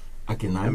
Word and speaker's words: Akinyemi: Akinyemi. MI. You pronounce it Akinyemi?